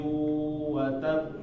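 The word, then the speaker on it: وَتَبَّ: Misalnya Tabbat yada abi lahabi wa tab. Nah, wa tab ini agak sedikit ditahan, sedikit aja, jangan terlalu lama. Wa tab, wa tab. Nah, baknya ini tahan sedikit ya. Nah, ini dinamakan qalqalah kubro.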